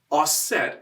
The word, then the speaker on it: Auset: she explained that uh osset is the french egyptian pronunciation of the egyptian goddess isis and she said you know